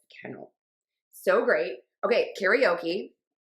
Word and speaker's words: karaoke: Karaoke. That's the American pronunciation. Karaoke.